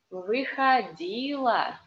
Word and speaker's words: Выходила: Выходила. О, in unstressed position is а. Выходила на берег.